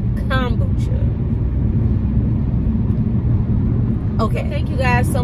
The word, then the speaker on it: kombucha: I didn't at the time, but I know now it's pronounced kombucha.